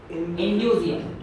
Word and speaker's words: indusium: इंड्यूजियम INDUSIUM, spelling check कर लेना यार, MCQ में टिक तो लगाना है।